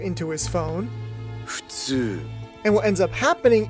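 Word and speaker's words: 普通: In the original Japanese version, Chika is saying futsu, which can mean something along the lines of obvious, average, or normal.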